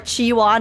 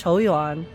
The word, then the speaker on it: Qiuyuan: No more Qiuyuan, it's Qiuyuan.